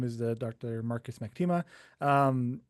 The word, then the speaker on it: Macktima: Marcus McTima. Um my last name actually, if you want to pronounce it correctly, I guess is uh actually Maktima.